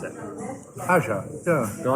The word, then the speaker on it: Aja: Aja, yeah. No, I thought it was Aya. I know that's wrong, but I've never known.